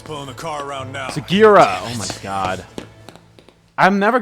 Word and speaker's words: Sugiura: Sugiura! Oh my god. I'm never going to say his name. Sugiura.